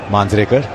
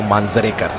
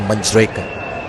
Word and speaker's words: Manjrekar: So what's my surname? Manjrekar. There you go, Manjrekar. Not Manjrekar. Like Tendulkar or Gavaskar.